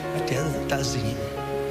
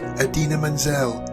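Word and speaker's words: Idina Menzel: Welcome the wickedly talented one and only Adele Dazeem. I think what you were trying to say, Mr. Travolta, was Adina Menzel, like it's spelt.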